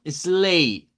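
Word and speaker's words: sleigh: La GH no suena. Entonces, un trineo, decimos slay, slay, nada más.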